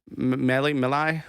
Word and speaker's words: Milei: I just call him Malay, but it's Milei, Yeah.